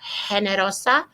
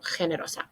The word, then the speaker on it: generosa: use this one because they don't like to pronounce that G with the H. You can do it as an H if you prefer. Generoso, generosa, or you can H-ify it. Generoso, generosa.